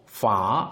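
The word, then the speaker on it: ฝา: 그래서 중요한 건 소리가 피읍과 히읗을 합친 영어의 F 발음, 히읗과 히읗을 합친, 피읍과 히읗을 합친, 피읍과 히읗을 합친, 피읍과 히읗을 합친.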